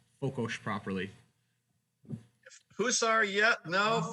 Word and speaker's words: Fokos: I'm hoping I pronounced Fokos properly. Hussar, yeah. No, Fokos, yes. The Okay. Hungarians pronounce S like sugar, so Sugar.